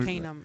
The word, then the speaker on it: Arcanum: know it's the I'll say Arcanum podcast. exactly how to say it. Arcanum. Okay. Yeah. Tanner told me. Arcanum.